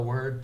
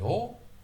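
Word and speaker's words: を: Sushi o. And it can be pronounced wo. Depending on the context, it often gets pronounced wo. But more often than not, it's o.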